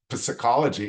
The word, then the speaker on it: psychology: of the word, but there are words that start with the letter P and the P is silent. Like the word psychology is P-S, Y-C-H-O-L-O-G-Y, and it's not pronounced psychology, it's psychology.